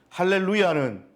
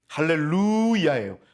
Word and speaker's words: 할렐루야: 되겠구나 분명히 깨달으실 거예요 할렐루야예요 루가 장모음 이고요 뛰어쓰기 되어 있습니다 할렐루아 이야가 뛰어쓰기 되 있습니다 이해 되셨죠 그래서 할렐루 야해요 그래서 할렐루 찬양하라고 목적으로서 뒤에 야외의 앞부분 하나님을 찬양하라 야자가 나옵니다 그래서 할렐루야입니다 정리를 하자면 1절부터 6절까지